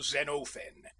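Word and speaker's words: Xenophon: Usually I took the part of that distinguished general Zenofen, and please note the quantity of the O.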